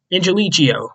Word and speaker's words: Angelichio: coordinator to be Brian Angelico. Angelichio, that's how you say his name.